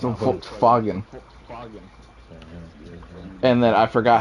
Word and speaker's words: Volkswagen: It's not It's not Volkswagen. It's Volkswagen.